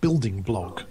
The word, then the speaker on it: BLDGBLG: There's a wonderful blog which I nick loads of stuff from called Building Blog, but it's spelled BLDGBLG, Building Blog, which is it's fantastic on architecture or conceptual architecture or cityscapes or just weird things like urban exploration.